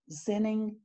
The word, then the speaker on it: Xining: May 22nd, 1927, and forgive me if I don't pronounce this right, it was near Xining, China.